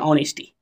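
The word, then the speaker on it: honesty: ये भावाच संज्ञा है लिखिए ऑनेस्टी एच ओ एन ई एस टी वाई ओने स्टी ये एच जो है इसमें साइलेंट है ठीक है अब देखिए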